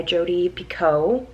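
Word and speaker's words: Jodi Picoult: sing you home by jody pico i think i'm saying it right now because they said it in the beginning of this book anyway i am let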